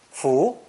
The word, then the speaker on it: 扶: adult lending a hand this character is pronounced with a rising tone full notice how the hand